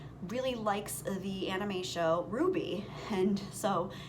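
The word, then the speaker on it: RWBY: real world it's a real anime series called ruby it's I think it's spelled RW BY but it's pronounced Ruby and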